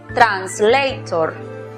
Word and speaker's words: translator: La siguiente sílaba es cerrada porque termina en consonante. Por lo tanto, aplicamos el sonido cerrado de la vocal O, tor. La pronunciación para la palabra es translator.